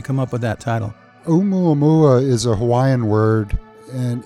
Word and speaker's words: Oumuamua: I think it's called Oumuamua. Is that close? So close. It's Oumuamua. Say that again. Oumuamua.